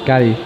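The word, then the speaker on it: Cádiz: Cadiz, is that what I'm saying it right, Wallace? Gadi.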